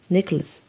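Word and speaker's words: necklace: عندي نيكلس قلادة، نيكلس السي هنا اتنطقت سي، سي اللي هي التانية نيكلس.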